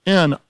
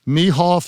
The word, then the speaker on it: Nieuwhof: Your Favor," by Carey N-I-E-U-W-H-O-F, pronounced Neehoff, Newhoff, Neewhof, all sorts of things, Nieuwhof is the right way.